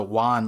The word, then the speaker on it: One: Oda specified that's pronounced a Wan, like the way that dog onomatopoeia works.